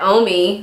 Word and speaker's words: Omi: names, she told me that Omi, the O-M-I one, that's for Omi, that's short for Naomi, as in Naomi Campbell, because Pat McGrath is, of course, a superstar makeup artist.